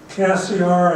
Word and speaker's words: Cassiar: And then Cassiar, I think is the right pronunciation.